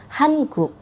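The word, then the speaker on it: 한국: ada Korea Selatan Korea Selatan itu bahasa Koreanya Hankook Hankook jadi orang Korea Selatan itu bukan ucapin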